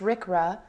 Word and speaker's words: RCRA: conservation and Recovery Act pronounced Rick rrah of 1976 as amended